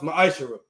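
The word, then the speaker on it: maaser: it means 10th in hebrew and it's pronounced maisha ten percent of every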